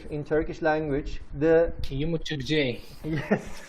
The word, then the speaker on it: yumuşak g: It's silent. Yeah. Okay, but I will teach you a trick, and it works all the time, and it's really easy to pronounce this letter. When you see this letter, it's usually before a vowel sound. So what you do is basically make the vowel sound longer.